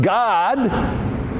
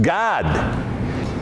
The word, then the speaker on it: Gad: Now it's pronounced God and Dan. You know, D-A-N, Dan. Well, when you're talking about the tribe of Dan, it's pronounced Dan. When you're talking about the tribe of Gad, it's pronounced God.